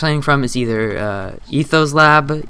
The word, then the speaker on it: Ethos Lab: from is either uh Ethos Lab e t h o s l a b like ethos slab and then you can also look at direwolf 20.